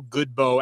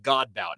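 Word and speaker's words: Godbout: guys you mentioned cole goodbow and i'm glad you said his name first i was gonna say god bout and i would have pronounced that game incorrectly but uh to him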